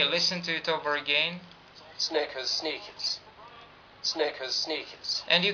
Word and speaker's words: Snickers: Snickers, sneakers. Snickers, sneakers. Snickers, sneakers.